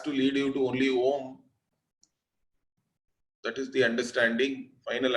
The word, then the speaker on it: Om: You don't even have to write it as A-U-M. A-U-M and all is only for your understanding. Om is a single syllable. It is Om only.